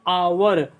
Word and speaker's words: hour: तो ए लगना चाहिए, लेकिन जब उच्चारण हमने किया कि आवर आ रहा, तो आ तो जो है ओवेल्स है, आ जो है स्वर है, तो इसलिए यहाँ पर क्या लगना चाहिए, एन लगना चाहिए, एन आवर्स।